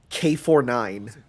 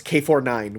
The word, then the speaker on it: K9999: is k9999 but his you call him k49 okay i would have guessed canines no it's k49 which is which sounds